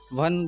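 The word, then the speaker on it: one: अब ओ भी हमारे वोवेल कैटेगरी में है, लेकिन यहाँ पर इसका जो साउंड है वो व से शुरू हो रहा है। वन जब हम बोलते हैं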